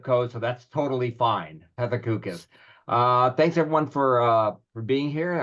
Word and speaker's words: Pethokoukis: It's Pethokoukis, and that pronunciation was in the correct area code or zip code, so that's totally fine. Pethokoukis.